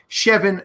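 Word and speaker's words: Chevboird: Nate Christian shev Boyd it looks like Chef Boyd Rd but the the way it's spelled is c h v b o i r d chevan noon and FF porkman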